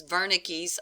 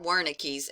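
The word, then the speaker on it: Wernicke: another functional region is veres or worik area I prefer verik because I think it's supposed to be pronounced with a German accent you tell me if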